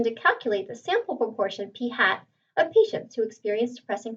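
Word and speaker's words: p̂: represented by this symbol right here and is pronounced p hat p hat the sample proportion is equal to x over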